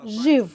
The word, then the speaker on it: živ: So in our language we have the sound zh. We say živ, život.